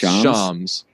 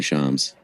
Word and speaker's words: Shams: say his name right it's charms and if that's sorry shams if this could touch